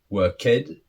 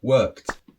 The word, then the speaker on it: worked: far so good now how do you pronounce these three different words is it way ted la ved were kid no of course not doesn't sound good so how do we pronounce these words so the first one is weighted the second one loved and the third one worked so you can see